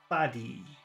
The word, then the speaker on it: body: number two body number three body number four body I'm getting confused it's hard to do it's